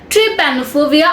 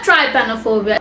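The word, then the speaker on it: trypanophobia: ট্রিপ্যানোফোবিয়া অথবা ট্রাইপ্যানোফোবিয়া। প্রোনাউন্সিয়েশনটা ট্রাই অথবা ট্রি, আপনার যেটা ইচ্ছা হয়। ট্রাইপ্যানো বলতে পারেন, ট্রিপ্যানো বলতে পারেন।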